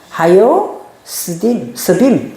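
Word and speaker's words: הַיֹּשְׁבִים: 캐네드 하요 하요스이야 하이가 아니거 하요스 왜냐하면 요도 안에 점찍혀 있죠 그러니까 하요 하요 스빔 하요 스빔이라고 읽으시면 돼요.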